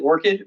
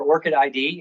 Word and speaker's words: ORCID: research or scholarly activity you can pronounce it Orchid or Orchid ID interchangeably either one is fine acceptable and an orchid